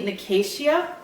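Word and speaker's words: Nicasia: and I want to we said Nas nasia but it's actually nikaia nikaia cuz I was listening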